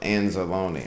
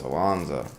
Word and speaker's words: Anzalone: sir I cannot believe his last name is pronounced anzalone I thought it was alono or some [ __